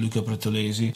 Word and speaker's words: Luca Pretolesi: I also try to have some EQ on the drum bass, a technique that I learned from Luca Pretolesi. I say in Italian pronunciation, Luca Pretolesi, super engineer.